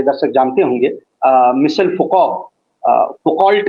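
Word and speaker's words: Foucault: मिसल फको फकल्ट लिखा जाता है क्योंकि फ्रेंच है तो फको प्रोनाउंस किया जाता है तो मिसल फको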